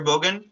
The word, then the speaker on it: Bogan: All right, Dr. Bogan? Hi. Or is it, did I say it right? That's right.